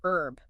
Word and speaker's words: herb: which one herb herb do you say herb with the H or do you go for herb you know that's a great example of how pronunciation can vary depending on where you're from right like is there a right way to say it well in American English herb without the H is definitely more common yeah that's how I say but in British English herb is the preferred pronunciation oh interesting so it's